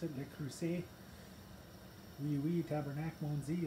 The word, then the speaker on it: Le Creuset: My Le Creuset pot, that's how you pronounce it, Le Creuset.